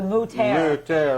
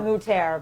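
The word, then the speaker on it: Mütter Museum: Well, I think they pronounce it the Mutter. The Mutter, but well, yes. us Southerners call it the Mutter Museum, and it was very interesting, guys.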